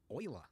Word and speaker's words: Euler: A, Utilities, Rotation, Rotate, not Euler, Euler. Yes, I know. They went with the weird pronunciation.